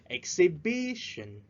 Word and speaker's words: exhibition: please exhibition exhibition exhibition remember to spread at the third syllable exhibition yes exhibition a collection